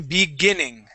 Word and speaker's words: beginning: okay one more time beginning beginning okay so this I here that's not going to have an e sound at the beginning we say yes B and then it's G beginning beginning beginning there you go